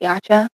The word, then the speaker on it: YCH: Like it's spelled um YCH, but like everybody just pronounces it Yacha.